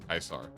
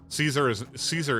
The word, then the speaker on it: Caesar: Yeah, in Fallout New Vegas, they call him Kaisar, but that's actually how. Ah, why you boop? That's actually how you're supposed to pronounce the name is Kaisar. Caesar is incorrect.